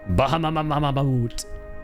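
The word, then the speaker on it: Bahamut: Your most used FF7 summon was uh summon was Bahama.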